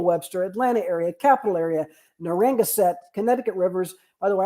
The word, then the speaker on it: Narragansett: Louis Council, our good friends, National Capital Area, Golden Gate, Indian Nations, Daniel Webster, Atlanta area, Capital Area, Narragansett, Connecticut Rivers. By the way, I pronounced that a lot better than Gina did last week.